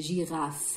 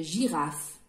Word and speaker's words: girafe: prononce pas y aller il est muet on va l'écrire mais on ne va pas dire une girafe eux mais on dit une girafe une poule on va